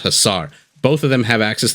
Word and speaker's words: hussar: to the winged sorry I I hear it pronounced hussar husar I think it's pronounced hussar both of them have